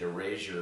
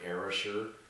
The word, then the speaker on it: erasure: people have pronounced it erasure, but I would feel it better to use the word erasure. It's almost like time, like era, time, sure.